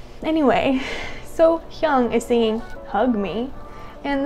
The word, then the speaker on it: SoHyang: It is SoHyang. Okay, SoHyang. How dare I come in think I'm going to react to someone I can't even say their name? How dare I? Anyway, SoHyang is singing Hug Me, and this is at